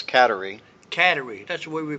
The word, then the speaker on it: Kateri: every weekend her name was you pronounced that caterie right not CER it's katerie caterie that's the way we pronounce it yeah but over here they say